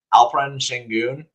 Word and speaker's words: Alperen Şengün: Alperen Şengün. Which is close, but not the Shen, right?